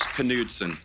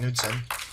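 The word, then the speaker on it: Knudsen: Ed Gy and Andrew Low, Yorgos Lanos, Emma Stone, and Lars Canudson. Producers, this is pronounced Nudson.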